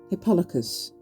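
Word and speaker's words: Hippolochus: Agamemnon next attacked Pesander and Resolute Hippolocus. That's how you say it, not Hippolocus. which I kept saying.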